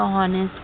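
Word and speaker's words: honest: लिखा है एच तो ऑनेस्ट पढ़ो। नहीं बेटा इसे हमें ऑनेस्ट पढ़ना है। क्या पढ़ना है? ऑनेस्ट। क्योंकि एच को नहीं पढ़ते हैं। एच क्या है? साइलेंट है।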